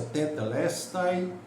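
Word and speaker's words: τετέλεσται: eh esse Está Consumado em grego é a palavra tetela a pronúncia tetelestai telest e esse termo significa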